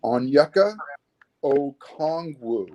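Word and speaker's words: Onyeka Okongwu: mark how do you say his name it's pronounced on yucca oh kongwoo okay all right i have i have my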